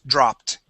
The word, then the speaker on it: dropped: sound drop okay so here at the end when you add an ed D okay that makes a t sound the word is dropped dropped there you go